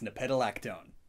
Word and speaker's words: nepetalactone: happens to create a chemical called how to pronounce nepetalactone it's nepetalactone which two cats just so happens to be